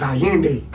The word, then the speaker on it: Allende: Like, my name is Allende, bro, my real name. Like, it's already out there, so I'm out where I'm supposed to. But that's how you say it. It's Allende. And that shit means we praising he came.